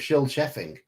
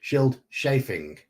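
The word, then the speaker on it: Scyld Scefing: That is the correct spelling of Shield Sheffing. Or sorry, Shield Chafing. It's chafing. So our options here. Who was Hrothgar's grandfather? We have Shield, which is Shield Chafing, which is how Manfred's put it down there.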